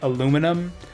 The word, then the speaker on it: aluminum: that way but yeah we spell it like the like the British but say it like the Americans so it's spelled aluminium